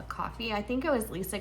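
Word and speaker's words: Ko-fi: I heard somebody looked it up and like when you click the little dots on how do you pronounce it, it says uh coffee.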